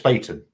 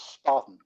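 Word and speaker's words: Spaten: Googled it and uh it's actually pronounced spayton Mark's gonna disagree building in his ears your life you can say what you want um I would always led to believe it's Spartan I wanted to get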